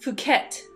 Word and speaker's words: Phuket: It's pronounced Phuket, Ed.